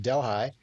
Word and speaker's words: Delhi: And we decided to go around the world in Ontario because we went to London, to Paris, to Delhi, pronounced Delhi, and to a little town called Damascus.